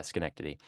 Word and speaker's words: Schenectady: other side of the state this is uh Schenectady New York okay yeah I did not pronounce it uh that's that's fair that's fair yeah Schenectady um Arthur's Family lived in an in and